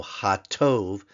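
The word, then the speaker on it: הַטּוֹב: become the superlative so hatov notice the hey with the Patak followed by the dges forte in the t hatto meaning the good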